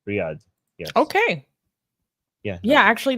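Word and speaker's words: Riyadh: Ria you mean um I think it's pronounced Riad Riad oh excuse me okay no no worries no worries because in Persian call it riy in Arabic we riy I think in English it's Riad Riad Riyad yes okay yeah yeah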